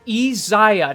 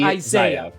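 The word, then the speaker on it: Iyzia: right now no yeah he just ezaya not Isaiah he's not African-American I'm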